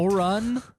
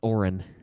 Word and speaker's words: Orin: Oron in the English dub. It's Orin. Orin? Yeah, Orin. Like Orrin Hatch?